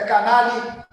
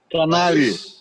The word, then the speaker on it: Canali: Aqui, ó, aqui embaixo, esse canal com a pronúncia correta é Canali. Canali.